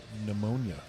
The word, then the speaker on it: pneumonia: Silent P, like pneumonia.